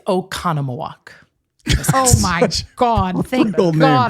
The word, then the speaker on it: Oconomowoc: It's Oconomowoc.